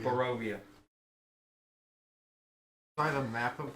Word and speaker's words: Barovia: How did I pronounce it? Bavaria. Barovia. Barovia.